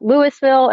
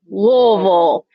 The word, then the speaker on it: Louisville: how to say it it's not Lewisville it's not Louisville it's Louisville but we are in Frankfurt